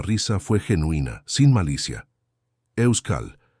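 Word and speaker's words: Euskal: Euscal mitología intentó Ricardo masacrando completamente la pronunciación. Ane se rió y esta vez la risa fue genuina, sin malicia. Euscal, la K es importante.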